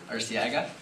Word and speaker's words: Arciaga: Did I pronounce that right? Arciaga.